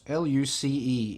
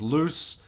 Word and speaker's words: Luce: Luce, L-U-C-E. In English is loose, but it's pronounced Luce.